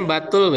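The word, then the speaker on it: بتول: Dan dia terkenal di kalangan Bani Israil bahwasanya dia tadi dia dibacanya batul ya bukan butul.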